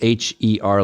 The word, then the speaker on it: Her: So her name is spelled Kaohly, and her is Her like a pronoun.